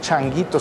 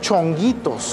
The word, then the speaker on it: chonguitos: pero es en realidad es un error no se dice o no se decía poner changuitos sino poner poner chonguitos ah chonguitos porque lo